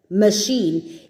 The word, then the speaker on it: machine: little bit complicated because you've got words that make the e sound but they look like the long sound so if you if you see the word m sh n machine it's spelled with an i and an E with a letter separating them which should usually get